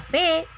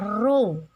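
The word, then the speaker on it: ρ: Jangan baca P, ini bacanya rho.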